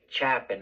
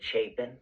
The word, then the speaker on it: Chapin: so like for example he just said Chapman or something right everybody knows it's Ethan Chapin right I mean that's